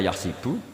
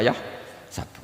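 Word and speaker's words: يحسب: Karena dalam qiraat sab'a ada yang baca yahsibu, qiraat kita baca yahsabu. Tapi guru-guru kita kalau ngajar fikih itu bacanya yahsibu. Tapi kalau baca Quran yahsabu. Ya kan Quran kita kan ayah sabu Allah yaqdiru alaihi ahad, bukan dibaca ayah sibu.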